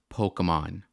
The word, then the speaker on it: Pokémon: like how he says Pokemon the same way like my mom says Pokemon like Pokemon like like it's called It's pronounced Pokemon Waka you should know